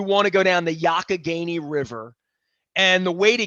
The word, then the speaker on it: Youghiogheny: The would you call it the Youghiogheny is how it's pronounced.